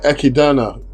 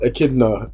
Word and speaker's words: Echidna: let's talk about um queen ekidana or echidna as it's spelt but not pronounced we don't know too